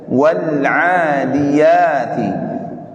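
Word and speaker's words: وَالْعَادِيَاتِ: Nah, di situ ada harokat yang berdiri pada huruf ain dan huruf ya. Ya, pada huruf ain dan huruf ya. Dibaca dua harokat. Semua pasti paham dua harokat ya? Halo Pak? Dua harokat. Tapi ada tadi beberapa yang baca tidak dibaca dua harokat. Ya, wal 'adiyati tadi ada ya? Wal 'adiyati harusnya wal 'adiyati. Panjang, pasti tahu, nggak mungkin nggak tahu.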